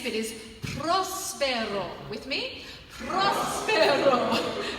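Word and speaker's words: próspero: Prospero. You've got to roll your R's, and you go ro, not ro, with an Aussie diphthong. We go ro. Prospero.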